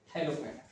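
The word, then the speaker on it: Thallophyta: तो इस तरह से याद रखो, THALL थाइलो, ये स्पेलिंग याद रखना, THALLOPH, हाँ, PH फाइटा, फाइटा, ये थैलोफाइटा, थैलोफाइटा इसको बोलते हैं।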